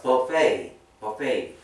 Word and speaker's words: buffet: 이게 프렌치에서 온 단어라서 T자 발음 안 하죠, 보통은. 우리가 잘 알고 있는 부패가요. 스펠링 어떻게 돼요? 이렇게 되죠. 근데 이게 프렌치라서 T 발음 안, 프렌치는 T 발음 안 하죠. 숭어 이렇게 하니까. 그래서 buffet, ballet. 발렛 파킹 할 때도 이 T자로 끝나는데도 발레이라고 발음하세요. 발렛 안 하고.